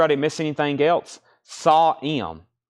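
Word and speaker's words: Sahm: didn't miss anything else saw m it's pronounced Doug sawm really that's Doug sawm not Doug Sam okay Doug sa got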